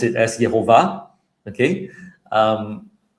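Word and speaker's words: יהוה: Um, and I pronounce it as yhovah. Okay. Um, I pronounce the vav as v, but you know, I know that in ancient times it would have been pronounced as. Okay. Perhaps yova.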